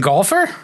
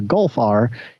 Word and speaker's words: Golf R: I've driving the Volkswagen golfer yeah the the golfer the Volkswagen golfer gol I I keep wanting to pronounce it like the body of water between Texas and Florida and I don't know